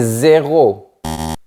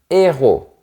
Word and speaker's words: héros: Attention à ne pas dire des zéos, c'est autre chose. C'est même le contraire. On dit des héros.